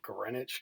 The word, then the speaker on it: Greenwich: place it runs through greenwich england uh it's it's spelled like a green witch but it's pronounced greenwich because you know the